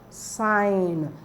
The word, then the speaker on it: sign: to the next one sign the G and N are on the line the g is silent so we're going to